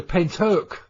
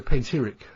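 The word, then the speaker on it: Pentyrch: It's the Pentark, the way it's pronounced, isn't it? The Pentark incident. Yes. I've always called it the Pentiric incident because of the way it's spelt.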